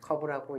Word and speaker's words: CURVC: 네, 저희 회사 이름은 CURVC라고 쓰고 커브라고 읽습니다.